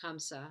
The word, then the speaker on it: Hamsa: You can Google this, Chamsa. You can spell it H-A-M-S-A, and see the other designs.